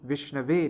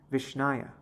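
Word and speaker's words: विष्णवे: But the correct grammatical form will be Vishnave Namaha, not Vishnaya. An uneducated priest, he does not know so much. So he says Vishnaya Namaha. And Dhiro Vadati, a scholar, will correctly pronounce Vishnave.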